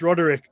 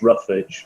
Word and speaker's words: Ruarigh: I was like, no, apparently it's Roderick. I mean, so it was, it's a good one. Oh, yeah. In university, I was known as Roughage because nobody could pronounce it.